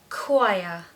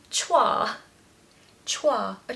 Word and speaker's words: choir: date number three is choir choir choir again does not look anything like the spelling if it was being said phonetically it would be Choi a choir of singers no